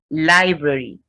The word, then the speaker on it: library: guidance and a library the two r's are pronounced library lettuce lettuce so letter